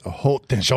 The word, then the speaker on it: Haute Tension: Pronounce it haute tension. Haute tension, right? It's not high tension. It's called high tension, but in French, it's pronounced what, Brad?